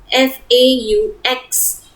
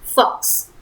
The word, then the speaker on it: faux: Then it is faux, F-A-U-X. It is faux and not fox. So pronounce correctly vrai or faux.